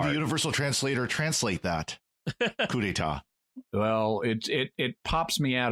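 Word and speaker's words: coup d'état: despite the universal translator, cannot pronounce coup d'etat. And it's just so awkward and lame the way that line gets delivered and is written. Right. Yeah. No stupid coup de. Right. It's French.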